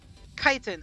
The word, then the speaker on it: chitin: Simon uh kitten I don't know how to pronounce it chitin is it with the is it is it chitin chitin okay yes awesome thank you redox that